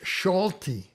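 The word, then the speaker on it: Solti: the next one george schulte here is the s without the z and so it's uh shh it's pronounced as it were sh george schulte and we'll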